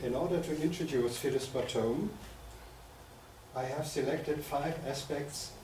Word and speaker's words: Bottome: herself should be pronounced Bome she writes somewhere bom rhymes on home so that's why I'm